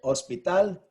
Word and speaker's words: hospital: So hospital, The last syllable is stressed, ends with an L.